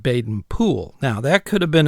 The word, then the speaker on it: Baden-Powell: or something so um bayen Powell or bayen po same person so regardless if you go by the English pronunciation or the Americanized pronunciation now bayen pow bayen